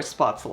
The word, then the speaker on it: Spätzle: in southern Germany where spatel are from or the way we pronounce it in swabian German so these have been